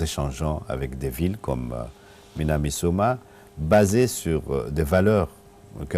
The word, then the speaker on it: Minamisoma: si c'est correct la Oui, prononciation, oui, des Minamisoma.